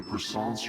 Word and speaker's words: puissance: To rule your reality with either puissance or wealth, which door do you choose? So that's how you pronounce that word, puissance.